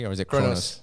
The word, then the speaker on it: Kronos: Did I pronounce it correctly, or is it Kronos? Kronos.